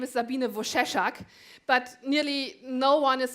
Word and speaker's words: Wojcieszak: is my old name and yeah the right pronouncing of my name is Sabina Bush a shock but nearly no one is able to do